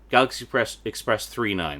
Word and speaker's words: Galaxy Express 999: Galaxy Express 39, that's how it's pronounced.